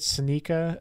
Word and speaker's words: Seneca: It's Burkittsville is the town, and then I don't know if I'm saying it right, Seneca Creek State Park in Maryland. How's it spelled? S-E-N-E-C-A.